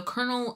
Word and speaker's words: colonel: Not a popcorn kernel. like a colonel in like military.